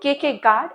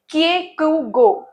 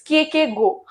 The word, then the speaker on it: Kierkegaard: So the major figures that we are going to ask is, so okay, so most of the people read his name wrong. It's not Kierkegaard, it's Kierkegaard. It's Kierkegaard.